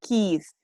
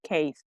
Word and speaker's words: keys: the truth truth and the keys he's not case he's because the other the other ones sound like a case like the cell phone case what covers the cell phone so it's not the same as keith keys is it represents